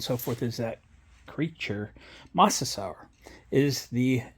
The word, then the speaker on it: Mosasaur: bit of research on how to pronounce the Mosasaur um it's kind of like dinosaur and I guess a